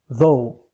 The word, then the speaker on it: though: and all the waragama though though gh of the end we don't pronounce it and although it is